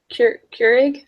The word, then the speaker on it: Keurig: So I said that the negotiation would benefit Keurig.